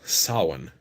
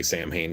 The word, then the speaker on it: Samhain: realize this but words uh for example example sawin most people pronounce it right some people say samhain because they don't know yet sawin is actually